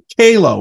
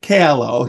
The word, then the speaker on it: Calo: live uh Facebook live YouTube live with Nick HALO right that's what it is not calo calo right he sent me the pronunciation I appreciate that because I am known